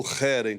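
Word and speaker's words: חרם: total e em hebraico é querem né ou rerem como a gente precisa pronunciar corretamente e que é esse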